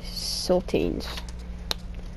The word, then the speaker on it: Sultanes: Playing the Monterey Sultanes.